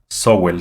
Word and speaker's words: Sowell: Se llama Thomas Sowell, se escribe, pero se pronuncia Thomas Sowell.